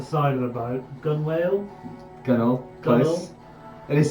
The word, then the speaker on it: gunwale: crouch, kind of like hide under the side of the boat, gunwale, Gunnel. Close. It is spelled Gunwale, yeah.